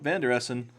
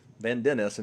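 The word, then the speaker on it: Van den Essen: He's looking for It Vander Essen. Van Dennesen, excuse me. Get our pronunciations right here.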